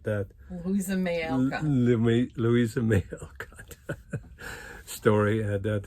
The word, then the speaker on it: Louisa May Alcott: So right after that, we saw Little Women, and it's Elba Maycott. I mean, I butchered that. Louisa May Alcott.